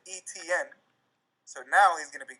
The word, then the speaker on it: Etienne: there last year but I pronounced his name Etienne and now I pronounce it etn so now he's gonna